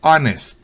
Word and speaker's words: honest: en arner no es la H es muda en honest honesto y la H es